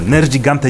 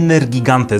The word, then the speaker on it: Nergigante: Nerdżigante, Nerdżigante, Nerdżigante, nie Nergigante Za dużo z Madzionką przebywam czasu i ona zawsze mówi ,,Nergigante!"